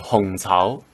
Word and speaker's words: Xingqiu: Xingqiu becomes Hongcao.